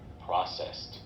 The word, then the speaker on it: processed: Eu imagino que seja mais para a primeira e segunda sílaba, né? Mas eu vou ver aqui, ó. Processed. Processed. Isso mesmo. Processed.